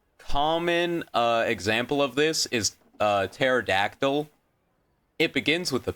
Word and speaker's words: pterodactyl: P is silent because in English, when a word begins with a P that is followed by an S or a T, it's silent.